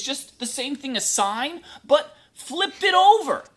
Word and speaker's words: sin: Secant, oh, by the way, don't say sin. We don't like sin. Sin's bad. It's always pronounced sine. Even though it says sin, we're going to call it sine.